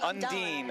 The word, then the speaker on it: Undine: Oh, is it Undine or Undine? Undine. It's the Dean. It's always the Dean.